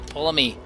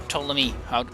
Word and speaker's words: Ptolemy: hopefully will not portray Ptolemy, or Ptolemy, I think it is Ptolemy, I think that's how you pronounce it.